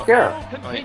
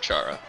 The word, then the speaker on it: Chara: No, that's Kara. Yeah, that's... I pronounce it Chara. That just sounds darker, even though it's short for character. Well, yeah. Chara, I will accept either pronunciation.